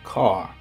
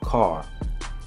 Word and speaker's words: Kar: So in the ancient Egyptian language, they have Kar, K-A-R, because in the ancient Egyptian language, they didn't have an L. The pronunciation of the sound would be the R.